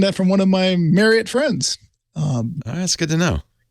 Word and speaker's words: Marriott: The CEOs of both Hilton and Marriott, they're like, by the way, it's pronounced Marriott, not Marriott. Like Marriott?